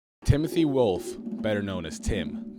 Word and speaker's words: Ptim: Timothy Wolf, better known as Tim, the P is silent, had a very interesting childhood, and one that is shrouded in mystery to some degree.